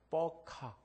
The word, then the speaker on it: 버카: 여러분 혹시 버카라는 말 아십니까? 버카. 조금 세게 발음하면 뻐카.